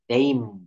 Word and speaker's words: name: শব্দের শেষে ই থাকলে ই এর উচ্চারণ হয় না। যেমন NAME, নেইম, নেইম, COME, খাম, TAKE, take, FAKE, fake. Fake শব্দের অর্থ ভুয়া, আমরা প্রায় এই শব্দটা ব্যবহার করি, ফেক, টেক, খাম, নেইম। অর্থাৎ এখানে ই কিন্তু সাইলেন্ট লেটার, ই উচ্চারণ করা যাবে না।